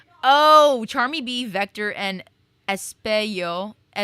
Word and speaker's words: Espio: Oh, Charmy Bee, Vector, and Espio. My brain wants to say Espejo. Espio.